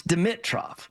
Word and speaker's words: Dimitroff: What is it? It's Dimmitro.